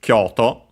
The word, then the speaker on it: Kyoto: But yeah, this one is Kyoto. Literally, Kyoto means capital city. Uh, capital uses both kanzi that mean capital. Uh, by the way, it's a Chinese compound, but it's actually accent on the first syllable.